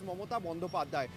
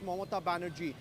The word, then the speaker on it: Mamata Banerjee: She says that my name in Bengali, if you pronounce it, is Mamata Banerjee. Now, in English, it becomes Mamata Banerjee.